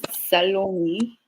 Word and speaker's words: Salome: it the salom or salomi which one are you sticking with it's it's it's salomi salom or just call me Sally call me Sally yes